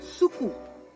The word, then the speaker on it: suku: Bueno, en papiamento, azúcar es suku. Suku. Suku. ¿Cómo se escribe?